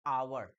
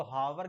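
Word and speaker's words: hour: लोग कह सकते हैं सर इसको हावर क्यों नहीं पढ़ते हैं, तो बच्चा एच एच एच एच एच is silent ना, एच साइलेंट है यहाँ पर, इसलिए इसको आवर पढ़ते हैं।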